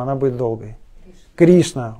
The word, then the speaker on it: Кришна: ударением она быть долгой кришна ударение на и а это уже другое